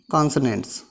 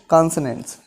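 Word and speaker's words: consonants: पहला आपका टाइप हो गया बाउल्स, सेकंड आपका जो टाइप आया कॉन्सोनेंट्स। ये वॉवेल नहीं है, ये वाउल्स है, ये कॉन्सोनेंट नहीं है, कॉन्सोनेंट्स।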